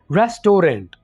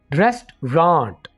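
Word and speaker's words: restaurant: student ऐसे बोलते हैं रेस्टोरेंट रेस्टोरेंट नहीं है बल्कि रेस्ट्रॉन्ट यहां पर हमने जो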